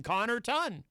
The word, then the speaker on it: Connarton: I mean, the first two syllables are Connor. So you just add the ton, Connarton.